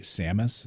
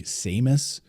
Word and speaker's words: Samus: that in there because people often criticize the way people say Samus. Some people say Samus. Others say Samus, which is how I say it.